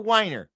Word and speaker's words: Wiener: His name, Senator Scott Wiener, or Wiener, depending on how you want to pronounce this. IE. Wiener would be EI.